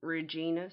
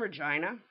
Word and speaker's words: Regina: say oh you're from Regina Saskatchewan I'm from Regina the city that rhymes with fun and for some reason people in the states people in Europe they want to call it Regina I understand that's a